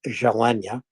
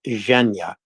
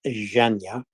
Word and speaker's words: Zhenya: borders the Tweet about chef jalenya chef zhenya I'm sorry I've been corrected Chef zhenya I'm adding a a syllable that doesn't need to be added so go up into